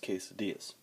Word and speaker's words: quesadillas: as I like to call them they're actually pronounced quesadillas let me find a cool way to set